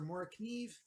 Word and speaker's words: Morakniv: one by Morrow knives or markiev if you want to pronounce it you know the English way of just prancing all the letters this is their most